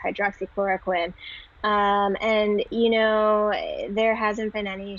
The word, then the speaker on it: hydroxychloroquine: Yeah, so that's if you want the easy way to pronounce it, that is Plaquenil is the trade name for that. It's hydroxychloroquine.